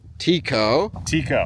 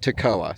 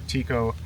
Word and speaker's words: Tekoa: So we were at Trestle Coffee this morning in downtown Tekoa. Pronounced Tekoa. That's how the locals say it. That's how the locals say it. I would have said Tekoa, so I'm glad we got that coffee.